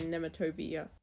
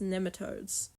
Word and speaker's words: nematodes: that orange substance to treat gastric parasites and nemat toia I've been informed it is in fact pronounced nematodes lemas are one of the only animals except